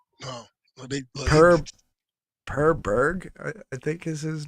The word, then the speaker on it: Per Berg: His first name is Per, but it's spelled P-E-R, and his last name is Berg, B-E-R-G. Um, Per Berg, I think is how you pronounce it.